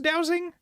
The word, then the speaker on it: dowsing: Okay, you have to use is it pronounced dowsing or is it dozing? Dowsing, yeah.